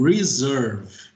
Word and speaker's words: reserve: Então, se a gente tiver uma palavra que começa com R, a gente vai ter aquele R super puxado, então reserve.